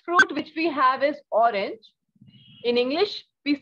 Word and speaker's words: orange: we all know that the sound of g in french is jer right so orange in french is orange okay so we have